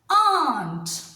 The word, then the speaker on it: aren't: n apostrophe T and it is pronounced as Aunt again if you have